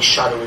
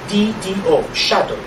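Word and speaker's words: shaddo: spelled this way, S-H-A-D-D-O, shadow. Okay? In that passage, it rhymes with lado.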